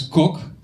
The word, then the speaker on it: Kok: name is Chris my last name is coke and I know what you're thinking and yes Chris is short for Christian also coke it's spelled Kok it's actually a word